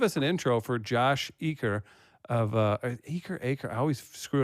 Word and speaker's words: Eaker: Can you get the pronunciation? Eaker? I say Eaker.